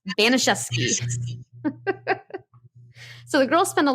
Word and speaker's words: Baniszewski: And yes, this is the way to pronounce the name. When you see it in writing, you're going to be like, wow, she slaughtered that. No. I finally heard it in audio after saying it wrong in my head 1,000 times. It's pronounced Baniszewski.